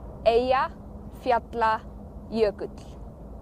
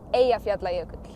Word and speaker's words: Eyjafjallajökull: So let's check out this girl saying I believe it's like Eyjafjallajökull. I'm sure I don't pronounce it anywhere near correctly, but okay, so what are we doing here? It's like this. Eyjafjallajökull. Eyjafjallajökull.